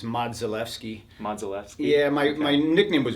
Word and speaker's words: Modzelewski: Well, everybody says Modzelewski, but in Polish it's Modzelewski.